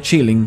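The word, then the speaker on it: Qilin: y descubrí dos cosas se pronuncia chilling pero se escribe con q killing y 2 esta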